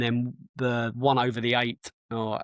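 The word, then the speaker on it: Ait: And then the one over the eight or it's called, it's spelled AI T.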